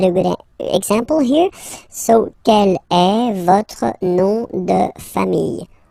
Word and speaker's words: quel: And then the feminine form is written like that, Quellelle, but it's pronounced like the masculine form. Quel at the masculine, quel at the feminine.